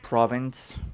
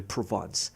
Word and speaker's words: Provence: know looks pretty cool i used to call them province but since i i i don't know i knew how to how to pronounce it properly provence but anyways the map